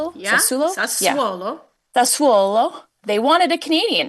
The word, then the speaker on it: Sassuolo: Yeah, Sassuolo.